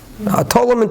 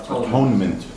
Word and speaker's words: atonement: Atonement with a T. No, atonement. A what? Atonement. Silent. The T is silent.